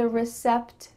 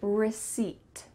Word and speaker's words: receipt: that's not correct instead the P is silent so you're gonna say receipt receipt just completely forget